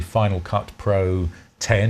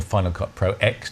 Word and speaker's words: Final Cut Pro X: The next step up from that on the Mac platform is probably Final Cut Pro 10 or Final Cut Pro X, depending how you say it.